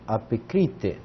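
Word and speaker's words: ἀπεκρίθη: Cai, apecrite, perdão, porque tem um acento, apecrite.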